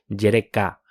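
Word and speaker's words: יְרֵכָה: o partes provienen de la palabra hebrea jereka noten el énfasis en la última sílaba eso es del número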